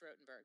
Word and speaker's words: Rottenberg: of those things work it's rotenberg 2s but pronounced rotenberg will you give us a quick plug on